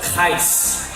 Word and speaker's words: Gijs: And that is pronounced as Gijs. Gijs. It is very Dutch, Belanda.